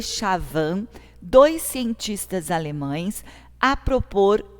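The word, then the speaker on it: Schwann: constituído de células levou shehtman e gilman pronúncia pronuncia-se sean e schavan dois cientistas alemães a propor em 1838 a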